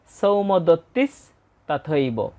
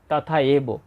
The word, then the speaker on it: সৌমদত্তিস্তথৈব: এই শব্দটার উচ্চারণ হবে সৌমদত্তিস তথইব অনেকেই এটাকে ভেঙ্গে বলে তথা এব সেভাবেও আমরা বলতে পারি শ্লোক আকার রয়েছে তথইব